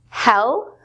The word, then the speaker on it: hell: words up so remember hell rhymes with Bell and he'll is pronounced